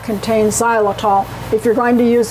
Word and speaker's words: xylitol: Now if you buy peanut butter, make sure it does not contain the ingredient xylitol. That's spelled with an X.